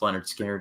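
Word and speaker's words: Lynyrd Skynyrd: I was listening to the first half of pronounced Leonard skinnard and when Gimme Three Steps came on like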